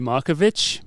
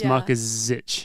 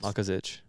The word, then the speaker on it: Markezich: attempt to pronounce it I always call you marovich but I know it's marich yes perfect marich Mar marich yeah marich